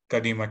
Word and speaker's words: Kadima: So I hope I pronounced Kadima. It's like Kadima. Yep. Yep. Kadima is correct pronunciation.